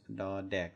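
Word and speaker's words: ด เด็ก: The difference is, as mentioned before, to produce da dek, the first one, you'll want to put your teeth or your tongue exactly where you would for a D, like D, duck in English.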